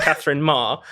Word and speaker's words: Katherine: But I have to pull you up actually on the pronunciation because it's pronounced Katherine Maher, and she has accused anyone who mispronounced it, especially Brits, because the BBC mispronounced her, of being colonialist.